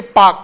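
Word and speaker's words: Palk: लेकिन ये पाक नहीं है, इसकी जो स्पेलिंग है वो PLK, एल साइलेंट हो जाता है।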